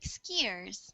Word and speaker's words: skiers: And this word is pronounced like skiers.